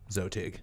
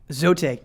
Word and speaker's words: XOTIG: That's XOTIG. Zotig. Zotig, X-O-T-I-G. Yep.